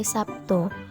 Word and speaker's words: Sabtu: Kesalahannya berupa kalimat "sekarang hari Sabtu", di mana kata Sabtu sering diucapkan seperti menggunakan huruf P.